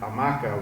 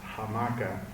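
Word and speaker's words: hamaca: the Spanish uh word amaka which back then still had the H pronounced hamaka which they all then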